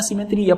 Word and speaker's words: simetría: Acento en la I.